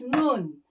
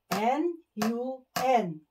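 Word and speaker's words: 눈: I is Nun. N-U-N.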